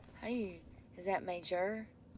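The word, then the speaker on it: Maejor: M A E J O R. How to say? Surely somebody has video out there, right? I'm starving. It's not connected. Major. Yeah, it's pronounced major.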